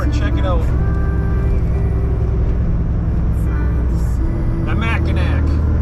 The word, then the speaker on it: Mackinac: come on over and check it out the macac pronounced ma like Tim mcra didn't see